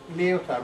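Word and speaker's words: Lyotard: for a second so leotar what do we know about leotar the D is silent I'm told that I'm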